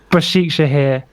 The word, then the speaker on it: Başakşehir: We're in what would now be called modern day Istanbul, in a place that I can't pronounce called Başakşehir. Başakşehir. Başakşehir.